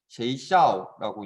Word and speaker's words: 学校: 자, 학교 중국어로는 学校 쉐이샤오라고 읽네요. 자, 지금 들어보니까 쉐이샤오 하면서 약간 중간에 목소리의 높낮이가 달라지는 지점이 생기죠. 그렇죠? 다시 学校 네. 쉐이샤오 이렇게 이제 그 음의 높낮이가 달라지게 되는데 중국어 글자에서는 이것을 성조라고 합니다.